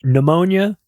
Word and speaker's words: pneumonia: PIC, uh which groups pneumonia, influenza, and COVID together. The P in pneumonia is silent for those of you illiterates out there.